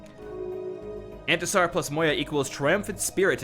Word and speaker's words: Intisar: And it's pronounced Antasar.